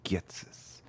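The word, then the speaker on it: Ghetsis: My name is Getis. Is it Getis? Hatis? How do you say his name? Getsis. My name is Getsis.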